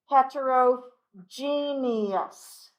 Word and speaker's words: heterogeneous: part of this word the last part of this word is almost pronounced like genius okay genius except for we give it that extra syllable in the world in the middle genius so homo genus hetero